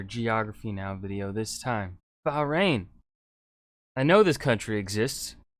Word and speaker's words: Bahrain: right go ahead dab right in bahrain not bahrain not boran not baran not bob saget oh but somebody rain you pronounce the h and now we can